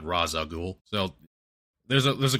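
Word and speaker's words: Ra's al Ghul: And there's a line spoken by well is I've always heard it uh pronounced Ral Ghoul, not Raza Ghoul.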